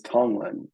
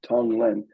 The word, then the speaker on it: tonglen: more question here says how do you spell tanlin and do you have a website uh I think the word is tonglen tonglen and you can look that up you can find lots of teach seen lots of writings on it and YouTube videos and probably podcast interviews Tong Lano it's all one word t o n g l n and that means uh